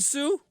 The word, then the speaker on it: Tsu: too you say it sue almost like a zoo zoo okay all right the t is silent the t is silent sue thank you for that